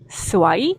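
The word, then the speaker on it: สวย: 없다 운이 없다라는 뜻이고요 스와이 스와이 이렇게 올리면 예쁘다 아름답다 이런 의미가 되거든요 그래서 남성분들은 예쁜 여성분들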